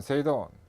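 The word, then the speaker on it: 整頓: 일본에서 OS가 생겼는데 일본어로 발음을 하면 정리는 세이리, 정돈은 세이돈, 청소는 세이소, 청결은 세이게츠, 생활화 또는 습관화는 시츠게 이렇게 발음합니다.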